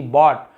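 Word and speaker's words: bought: बी ओ यू जी एस टी बॉट।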